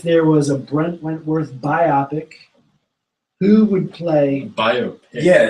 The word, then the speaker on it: biopic: this is about movies bio like biography picture yeah thought you say thank God cuz I thought I was saying it wrong the whole time like in my head is not biopic yeah biopic right silver bopic Bop